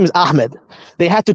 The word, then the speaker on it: Ahmet: Let's say his name is Ahmed. They had to change that name to Ahmet with a T in the end, because that sounds Turkish, because that's Turkish, a Turkish pronunciation.